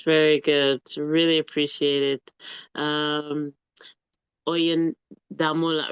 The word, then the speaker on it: Oyindamola: Oyindamola, is that right? If I say it right? Yeah, yeah. Oyindamola.